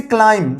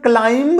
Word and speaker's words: climb: के बाद बी है, हम लोग इसका प्रोनाउंसिएशन क्लाइंब नहीं कर देंगे, क्लाइंब, इसका प्रोनाउंसिएशन होगा क्लाइम, CLIMB, क्लाइम। तो बी यहाँ पे भी साइलेंट है, एक कंडीशन।